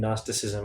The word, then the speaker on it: Gnosticism: Some of us have no idea what even Gnosticism is, what Gnosticism even is. Well, Gnosticism, spelled with a G in the front, a silent G, going back to the Greek word gnosko for knowledge.